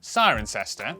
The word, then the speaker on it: Cirencester: But before you get too reassured, for every rule in the English language there are always exceptions, such as the cester in, Cirencester, the W in, Sandwich.